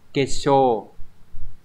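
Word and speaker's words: 結晶: Thì chữ tinh sẽ đọc là shō, các bạn nhớ trong từ thủy tinh chẳng hạn. Sui shō. Đây. Đọc là shō nha. Sui shō. Như vậy kết tinh sẽ là kesho.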